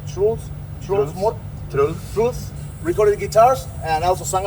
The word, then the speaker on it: Truls: So, on this first album, your current bassist, how do you pronounce Truls? Truls. Truls recorded guitars and also sang on a couple of songs.